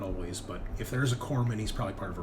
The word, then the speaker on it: corpsman: Corpsman? Yeah, corpsman. Corpsman. Okay. Just like it's Marine Corps, right? Not corpse.